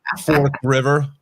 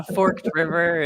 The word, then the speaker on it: Forked River: for how many years Right Fork River yeah Forked River oh it's the worst Forked River come on get that right yeah or uh what